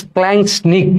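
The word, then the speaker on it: splanchnic: একটা হচ্ছে অন্তঃকঙ্কাল তন্ত্র, অন্তঃকঙ্কাল তন্ত্র, ঠিক আছে, একটা হচ্ছে অন্তঃকঙ্কাল তন্ত্র এবং আরেকটা হচ্ছে স্প্ল্যাঙ্কনিক। তোমাদের বইয়ে স্প্ল্যাঙ্কনিক লেখা আছে, স্প্ল্যাঙ্কনিক লেখা আছে, বাট এটা সঠিক উচ্চারণ হবে স্প্ল্যাঙ্কনিক।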